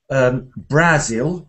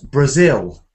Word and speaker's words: Brazil: Usually, all around the world in English-speaking countries, it's not Brazil, but Brazil.